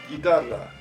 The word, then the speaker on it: guitarra: But now listen to this. La G y U plus E pronounce guerra, guerra. And la G y U plus I pronounce guitarra, guitarra. The letter U in these two examples is silent. It has no sound, because in Spanish, when